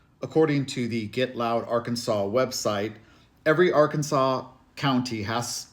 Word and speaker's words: Arkansas: should be spelled Arkansas as it's spelled but pronounced Arkansas theqa were the original inhabitants of the state